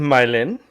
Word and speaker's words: Mylene: and Mylin.